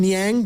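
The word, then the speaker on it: Niang: How do you pronounce his name? Nyang.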